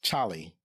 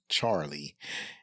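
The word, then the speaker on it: Chollie: And when I say Charlie, I mean his name is spelled C H O L L I E. It's Charlie, not Charlie.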